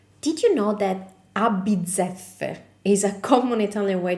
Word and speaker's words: a bizzeffe: This can be a little bit hard to pronounce at first because it has double Z and double F. For double Z, just remember pizza, so bizzeffe. And for the double F, just keep the sound of the F a little bit